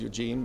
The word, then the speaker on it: Eugen: That is Eugene, but pronounced Eugen Freund, and I'm a member of the European Parliament.